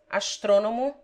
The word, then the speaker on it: astrônomo: The following take the accent on the antepenult. 1. Masculine nouns from the Greek, such as astrônomo, geólogo, filósofo.